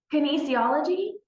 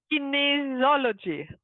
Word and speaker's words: Kinesiology: breaker you know muscle testing how do you pronounce it ology Kinesiology Kinesiology okay nice it doesn't matter now what it